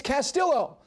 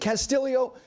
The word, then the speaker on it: Castillo: enough, who are going, it's Castillo. It's not. When the family and the player himself says, we pronounce it Castillo, you pronounce it the way they do.